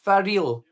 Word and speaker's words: Faril: Faril. Faril Games. Like, for real, for real.